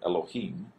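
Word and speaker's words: אלוהים: This is the lamed is a L sound, O, Ha, and then a long E sound, and then a final M or Mem. So Elohim.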